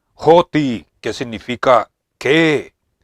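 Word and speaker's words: ὅτι: son separadas por la palabra griega que se pronuncia joti Qué significa qué y a veces se unen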